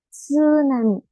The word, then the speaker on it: tsunami: otros dicen psicólogo bueno en el caso del japonés con la t y la s sí se va a pronunciar esa t tsunami tsunami o por ejemplo acá